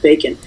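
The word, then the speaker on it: Bekin: how cute he is it's spelled a b-e-k-i-n but it's pronounced bacon so they are our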